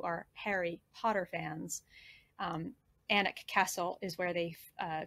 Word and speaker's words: Alnwick: just south of anak so here's anik and it looks like alnwick a-l-n-w-i-c-k and for those of you who are harry potter fans um anik castle is where they